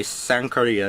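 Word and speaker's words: Sankarea: I actually had to search up how to actually pronounce this Sankaria from some random critic who was like, Sankaria! And I was like, okay, Sankaria it is.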